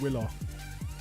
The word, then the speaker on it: Wilo: Now, I got told it was Willow, but is it Wilo? It's spelt Wilo, Yeah, isn't he it? doesn't But- care though, so I haven't. Oh, well. The fact that he doesn't care made me never sort my shit out with how to pronounce it. He doesn't care, neither do I. Exactly. It is Willow, yeah. If it was Willow, he'd have 2 L's and a W.